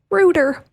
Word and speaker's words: router: laugh in British English do you know how they say router no rooter router yeah like Roto-Rooter yes exactly like that yes